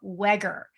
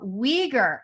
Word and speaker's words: Weger: I called her Michelle Wagger. And Nibil was very quick to tell me it's Michelle Wager. It rhymes with eager. So, Michelle, Michelle Wager has never had a 9to-5.